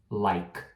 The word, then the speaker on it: like: não falar vogal tem palavras que terminam em e né na na vogal e e ela não é pronunciada também então é como se fosse você parasse na letra anterior exemplo like o like esta coisinha like Então esse aí é outro então não fala like tá então tira esse